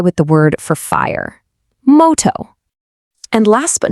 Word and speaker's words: moto: It's a nice round o sound just like in the word go. Let's give it a try with the word for fire. Moto.